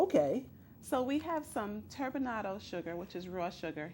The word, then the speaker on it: turbinado: And Now pronounce that for me one more time. What kind of sugar? turbinado.